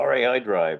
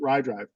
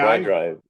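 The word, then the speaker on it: RaiDrive: Oh, RAI Drive. I've used that. Oh, is that how you pronounce it? I always pronounce it RIDRIVE. RAI? RAI Drive.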